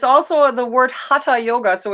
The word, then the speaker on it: hatha: so it's you know you pronounce it hatha in english because th but it's ha and ta which is sun and moon so basically the whole every it's not hatha yoga oh that thing where